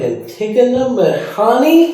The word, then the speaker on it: Antigona Mehani: I am really grateful today to sit down with Antigona Mehani.